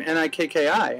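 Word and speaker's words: Nikkii: to remember and she goes how do you pronounce the name n i kkii and I said Nikki and she said oh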